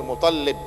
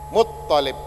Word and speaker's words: Muttalib: Sering kita mendengar orang sering baca Abdul Muttalib dibaca Abdul Muttalib. Nah, ini keliru, itu ya. Keliru. Yang ada tasjidnya itu toknya, bukan lamnya. Muttalib, Abdul Muttalib, bukan Abdul Muttalib.